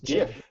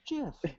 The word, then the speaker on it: GIF: I just found out that's pronounced GIF, by the way, by the creator. Yeah. It is. It's GIF. Yeah. I thought it It's was GIF.